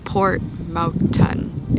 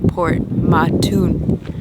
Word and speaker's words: Port Mouton: Port Mouton sounds like, or is spelled like Mouton? M-O-U-T-O-N. So it's not Port Mouton, it's Port Mouton is what we learned. We learned the hard way.